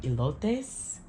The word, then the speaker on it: elotes: And then we had got some elotes. E-L-O-T-E-S. Elotes. I'm saying it like that because my friend Nydia is like, you Americans say it wrong.